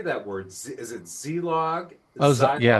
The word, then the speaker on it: Zilog: Is it zilog? Yeah. Zylock. Zlog. Zylock. Zylock. Zylock. Z. So it's the long eye.